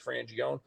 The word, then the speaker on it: Frangione: I said you know again like we said before Americanized it's frangione but in Italian you pronounce it with every letter and he said like